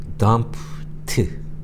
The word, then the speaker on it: dumped: 그래서 dumped, 비록 ed이지만 스펠링은 발음은 트로 발음한다는 것도 기억하시기 바라면서 I dumped him.